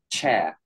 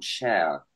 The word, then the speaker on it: chair: Tu as ton cha, donc tu as ton E classique derrière, et tu as ton chair. Donc, tu vois, tu as ton E muet qui arrive à la fin.